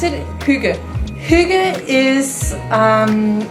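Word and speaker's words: hygge: Do you pronounce it? Huga.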